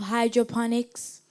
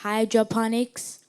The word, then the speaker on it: hydroponics: Eve Victoria, your word is hydroponics. Can you please repeat the word? Hydroponics. Can you read the meaning of hydroponics?